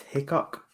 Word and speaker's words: Hickok: I think it's Kramer, and I think it's pronounced Hickok. Yeah, Kramer Highcock making his comeback once again.